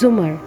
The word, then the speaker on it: زمر: بھی ملاقات ہوئی تھی۔ اس نے البتہ زمر کا نام غلط تلفظ سے بولا تھا، رکے کے اوپر زبر کے ساتھ۔ اف، اٹس زمر، زومرز، زے کے اوپر پیش ہے، اس نے توڑ توڑ